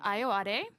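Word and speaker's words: Ayoade: and this episode is directed directed by richard iowa that's the that's the correct pronunciation who's uh from the british i.t crowd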